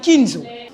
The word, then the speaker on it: Nkinzo: Ninzo bonjour monsieur nikinzo bonjour madame je prononce bien alors mon nom c'est Ninzo Ninzo alors justement nous allons revenir tout à l'heure